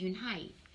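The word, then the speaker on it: Unhei: name a girl asked it's spelled u-n-h-e-i it's pronounced unhype oh you hey like you hey what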